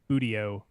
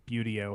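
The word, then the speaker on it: Buteo: of hawks in the the budio or beauty-o however you want to pronounce that uh genus which are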